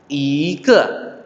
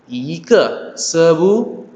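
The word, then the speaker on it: 一刻: Ike. Ike. Sebuah. Oke. Nah, ini. Harusnya kan? Ini i. Ke. Ke itu lewat 15 menit. Berarti nggak boleh dong bacanya i ke. Jadinya i ke.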